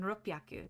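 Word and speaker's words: 六百: And then ropyaku.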